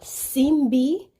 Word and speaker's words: Simbi: to kind of clarify the proper pronunciation of the Haitian male mermaid it is called simbi simbe so they actually have